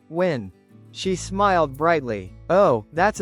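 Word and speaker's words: Nguyen: "It's pronounced win."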